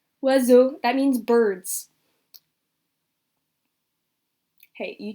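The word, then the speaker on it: oiseaux: bet you it's uh you're gonna go crazy when I tell you that this is pronounced wazoo that means Birds hey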